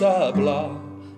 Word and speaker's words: hablar: Puedes hablar. H는 묵음이 되겠습니다. A mí me puedes hablar.